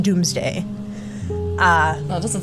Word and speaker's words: Domesday: the Doomsday Book oh it's spelled domesday d-o-m-e-s-d-a-y but it's pronounced Doomsday uh well it doesn't